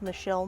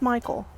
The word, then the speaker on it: Michel: It was built in 1838 for a Frenchman named Michelle Manard. It's not pronounced Michael, which sometimes people think.